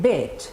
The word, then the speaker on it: bed: Repeat, bed. Your lips are very soft. You don't have to smile. You just say bed.